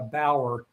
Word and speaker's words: Bower: It's it's uh not the German B- A R. It's uh Bower.